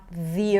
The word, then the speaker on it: the: Notice that here the 'the' is pronounced as the the earth. The earth. That's because there is a vowel right after. When there is a vowel, we want to say the word 'the' with an e sound.